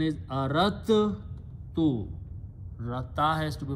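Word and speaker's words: أردت: So what they do, instead of pronouncing dal, they pronounce ta two times.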